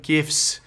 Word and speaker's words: GIF: with a deluge of gifs all right which I looked up the proper pronunciation here you can say GIF or GIF just saying um and